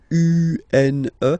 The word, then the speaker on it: une: Then the feminine article is here, and it's easier because if you have this U-N-E, then you pronounce it une. Okay? Masculine, un. Feminine form, une.